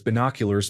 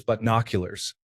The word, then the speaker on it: binoculars: For the longest time, I pronounced binoculars as binoculars because of the prefix by meaning to. I was corrected in my late 20s that it was butnoculars.